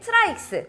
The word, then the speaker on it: TRYX: 그래도 오늘 주인공은 역시 트라이엑스 파노라마 360 일체형 수냉쿨러입니다. 컴퓨텍스를 보니까 브랜드 발음은 트라이엑스라고 하는 것 같더라고요.